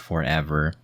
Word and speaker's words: ForeVR: It's ForeVR Bowl, but it's pronounced forever.